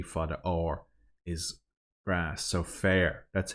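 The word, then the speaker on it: féar: So fair. That's how it's pronounced. Fair. Like fair hair.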